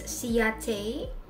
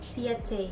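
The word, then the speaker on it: Ciaté: to pronounce the brand but it's ciate the c-i-a-t-e the e with the stress siete right hey okay yeah i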